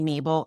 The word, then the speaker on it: Mabel: Uh in fact, the the correct way of pronouncing my name is Maven Per um because I'm Hispanic. Uh and sometimes people just butcher my name, so I tell them just say Mabel and we're we're good.